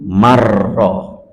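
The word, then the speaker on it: من رأى: Padahal kalau seandainya Al-Quran mestinya nun sukun bertemu ro. Bacaan apa itu? Bacaan apa itu? Idgham bila gunnah. Nunnya masuk di ro tanpa dengung, sehingga menjadi marro, tidak manro.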